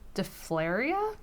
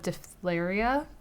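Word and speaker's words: diphtheria: she actually died of de flair eeeh I think is how it's pronounced de flair eeeh in Cherokee Iowa in 1880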